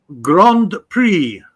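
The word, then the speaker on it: Grand Prix: time you make me huh gr grand pri okay pre you can you cannot uh pronounce the x grand French Okay.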